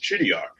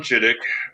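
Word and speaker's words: Chideock: And so, she married a man by the name of Thomas Chidio. It's actually pronounced Chidik, but it's spelled C H I D E O C K.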